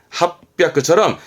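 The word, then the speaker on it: 八百: 발음은 합백처럼 이런 부분들에 좀 조심성을 할 필요가 있어 적어놨네요.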